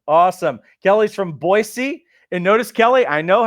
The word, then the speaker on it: Boise: Kelly's from Boise. And notice, Kelly, I know how to say it. There's not a Z. It's an S. It's Boise, Idaho.